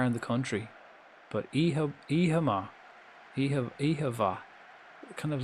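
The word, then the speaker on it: oíche mhaith: t h is pronounced e-ha ma or it can be pronounced ehavva. It can be a v. The mh can make a v sound or an m m sound depends.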